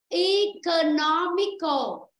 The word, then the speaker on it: economical: Nghe cô đọc lại này. Economical. Ok, bạn hiểu là đúng rồi. Đó, đúng rồi. Phải rơi vào âm thứ 3.